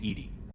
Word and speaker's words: EDI: have a specific inquiry why are you named Ed Ed is the phonetic pronunciation of Ed I that is an acronym